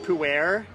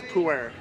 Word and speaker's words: pu'er: And the actual pronunciation is not pu'er, It's pu'er. Pu'er. So it's like you take pu'er and you make it into two syllables, and it's pu'er.